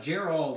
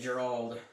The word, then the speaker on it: Gerald: Gerald is how you say it. Gerald.